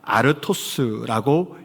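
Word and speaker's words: ἄρτος: 헬라어에는 떡이라고 번역된 이 단어가 아르토스라고 읽혀져 있습니다.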